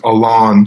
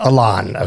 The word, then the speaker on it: Alain: The French pronunciation is Alain. Alain.